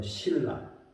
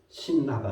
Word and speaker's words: 신라: 신라 그럴 때도 리을의 영향을 받아 신라, 신나가 아니고 신라.